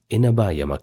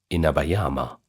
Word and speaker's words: Inabayama: took over the formidable Inabayyama Castle. Sorry, Inabayama.